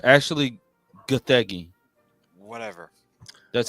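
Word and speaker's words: Gathegi: The actor for Terrific, Eddie Gaffig. Oh, it's actually Gothi. Whatever. That's how you pronounce his name.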